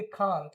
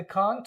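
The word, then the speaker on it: can't: इसके जगह पे बोलेंगे कांट। क्या बोलेंगे? ब्रिटिश वाले इसको बोलते कांट, अमेरिकन दे से कैंट।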